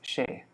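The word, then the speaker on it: সে: amit it's you see it's an s but in bengali it's pronounced it's pronounced shay except for you know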